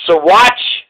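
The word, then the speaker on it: Saguache: old shayla hamill of siwatch county swat city and it's spelled s-a-g-u-a-c-h-e which is ridiculous why would a g make a w sound should be spelled s-a-w-a t-c-h so watch anyways barros and dominguez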